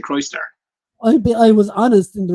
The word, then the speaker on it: Crystar: So, how did you pronounce it? What did you say? Crystar. Yeah, Crystar. That's how I looked at the word and said that's Crystar. It's spelled Krystar, like so. So, but G-Force basically told us it's Crystar.